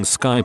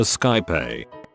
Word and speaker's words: Skype: bulb went off that he was pronouncing skyp a Skype after 5 years of